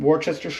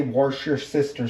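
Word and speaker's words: Worcestershire: Um Warchester sauce is another one that I like. Um and I apologize to my British friends for the Americanized pronunciation there, but at least I didn't say warer sister sauce.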